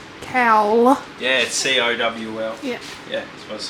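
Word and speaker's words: cowl: afternoon so we have our brand new front cow c a w l I believe it's spelled okay cow yeah c-o-w-l yeah yeah that's what I said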